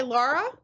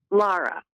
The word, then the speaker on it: Lara: And do you go by Laura? Am I saying it right? Lara.